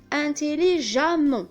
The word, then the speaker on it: intelligemment: eux deux mnt mais il faut faire attention à la prononciation de em ent intelligemment et se prend intelligemment d'accord maintenant on passe